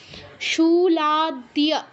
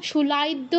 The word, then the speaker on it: শুলাদ্য: শুলাদ্য, শুলাদ্য, শুলাইদ্য, এরকম কেউ বলবো না, শুলাদ্য।